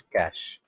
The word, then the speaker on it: cache: memory so what is cash if by typing c a c h e we have to type but you have to pronounce it c a s h okay you have to